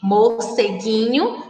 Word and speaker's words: morceguinho: E quando nós pronunciamos o gui, nós não escutamos o som da vogal U, ok?